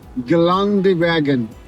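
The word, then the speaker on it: Geländewagen: w a g n it's a german word actually i call it i pronounced as GELANDE WAGON the meaning cross country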